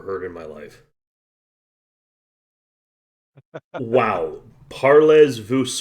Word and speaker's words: parlez-vous: Parlez vous French. But the Z and the S are both silent in that case.